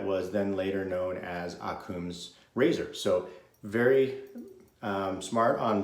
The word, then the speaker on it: Occam: the information i guess but the razors actually pronounce akum and so apparently uh william of akum was